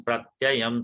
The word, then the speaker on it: प्रत्ययं: होता है क्या, प्र में यहाँ पर क्या है, संयुक्त अक्षर है, और संयुक्त अक्षर के पहले जो होता है बलाघात होता है, शुद्ध उच्चारण वो है। तो जनयन प्रत्ययम तदा।